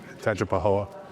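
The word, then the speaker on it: Tangipahoa: In Tanga Pahoa or Tanga Paho? Tangapoa. Okay. Just make sure I'm pronouncing that right.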